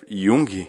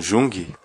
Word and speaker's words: Jung: perto da pronúncia porque os países nórdicos o J tem som de Y né alongado então mais certo que nem cal custa Yang né não Jung Então seria certo e